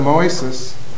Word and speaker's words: Moises: B being the Ethio American Insurance Company policy denial for the date of loss of May 12, 2017 for a insured Moises. Am I pronouncing that right?